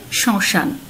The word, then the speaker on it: শ্মশান: কালি দিয়ে লিখেছিলাম সানুনাসিক হবে উচ্চারণটি, যেহেতু মফলার উচ্চারণ নেই সে কারণে কিন্তু আমরা চন্দ্রবিন্দু ব্যবহার করেছি। তেমনিভাবে শ্মশান।